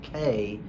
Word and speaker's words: Cay: Now, a lot of times people, when I say Halfmoon Cay, they go, oh, it's actually pronounced Key. I'm like, it's actually not. Carnival does actually pronounce it Cay, and that's why they've